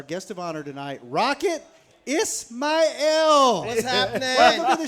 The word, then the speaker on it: Ismail: I ain't never heard it pronounced like that. Can you say Sorry. it again? Ismail. With the elaborate Yeah, you enunciation. said it. There we go. So Kiss my L.